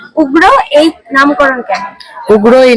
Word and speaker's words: UGRAAA: তোমরা যদি নামটা দেখো উগ্রা মানে ইংলিশে যখন আমরা প্রোনাউন্স করছি উগ্রা ইউজি আর ট্রিপল এবার ট্রিপল এ না রেখে আমি জাস্ট এও রাখতে পারতাম বাট ট্রিপল এ রাখার